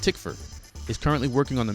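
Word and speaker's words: Tykwer: Second, McTeigue also confirmed that Tom Twyker, which I now believe is pronounced Tickford, is currently working on the music for The Matrix 4.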